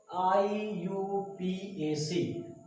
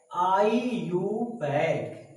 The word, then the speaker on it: IUPAC: तो यहाँ पे पुटअप करते IUPAC, अब सभी लोग इसको क्या बोलेंगे, बोलो, IUPAC, गलत है। इसका प्रोनाउंसिएशन क्या होना चाहिए, आईयूपैक।